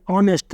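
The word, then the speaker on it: honest: ऐसे एग्जाम्पल के तौर पर एन ऑनेस्ट, तो इसमें एच साइलेंट है, साइलेंट लेटर है, तो एच जो छोड़कर एच का कोई प्रोनाउंसिएशन नहीं होगा, इसको नहीं पढ़ेंगे, तो ऑनेस्ट को पढ़ेंगे ऑनेस्ट, तो औ का ऑनेस्ट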